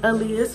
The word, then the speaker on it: Aaliyah: My mom said my name is pronounced Aaliyah as well.